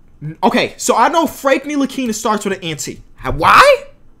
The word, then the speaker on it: Ntilikina: Okay, so I know Frank Ntilikina starts with an anti.